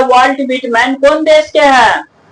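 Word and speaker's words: Whitman: Vault व्हिटमैन। कोई कोई आदमी इसको जो है व्हाइटमैन भी पढ़ देता है, लेकिन तुमको उच्चारण देख लो।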